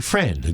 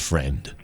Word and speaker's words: Friend: So, Renee, is it like a a a tricky a pronunciation to it or is it just friend? It's just friend.